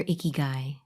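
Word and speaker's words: ikigai: 29 on finding your icky guy this is a japanese word that is spelled i-k-i-g-a-i not i-c-k-y-g-u-y if you have a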